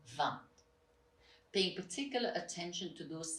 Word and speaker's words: vingt: The third one is the sound un, quite nasal, as in cinq and vingt.